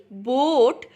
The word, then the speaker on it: boat: তাহলে ব ও, বো, এই এর সাউন্ড হচ্ছে না, এটা কিন্তু এখানে সাইলেন্ট। BOAT, বোট, কিন্তু এখানে কোথাও এর সাউন্ড আপনারা শুনতে পাবেন না, না এর ফনিক শুনতে পাচ্ছেন আর না এর কোনো নিজস্ব সাউন্ড শুনতে পাচ্ছেন, তাই তো।